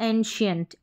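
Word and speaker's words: ancient: इसको हम एन सेंट भी नहीं पढ़ेंगे। ठीक है? और ए यानी स भी नहीं पढ़ रहे हैं। ठीक है? और क भी नहीं पढ़ रहे हैं। तो यहां पर इसको हम पढ़ रहे हैं एंशिएंट। एंशिएंट श उच्चारण हो रहा है किसका? सी का। फिर यहां पर देखें प्रोफिशिएंट हो रहा है।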